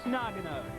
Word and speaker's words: Nagano: Well, it's Nagano.